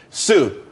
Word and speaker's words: Tsu: there's more money and everyone could be happy Sue CSU it's pronounced Sue though that's a that's a website